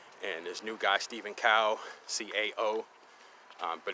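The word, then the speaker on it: Cao: there's new guy Stephen cow CA oh but it's pronounced cow like like moo cow Asian guy but he's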